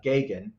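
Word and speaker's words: Geoghegan: supernatural Thriller directed by Ted gagan is how his name's pronounced I had to look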